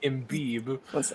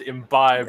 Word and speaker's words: Imbi: I was calling them embi and they said n it's pronounced imbi not em with a $15 donation